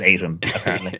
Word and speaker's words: Aitum: like people to use I have heard 70 different pronunciations of the word Asian but it is Adam yep so and uh